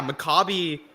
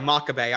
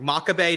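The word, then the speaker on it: Makabe: right I think yeah Maccabi uh I'm sorry makabay I always say the name wrong makabay just kind of got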